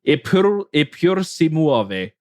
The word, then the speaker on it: Eppur si muove: Eppur si muove is apparently how it's pronounced.